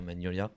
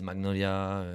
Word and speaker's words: Magnolia: deux prononciations en fait la prononciation française c'est bien magnolia ok mais d'ailleurs c'est